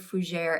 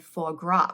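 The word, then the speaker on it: fougère: listed online yet and she was struggling with the word fuer and thought it said forra which now the way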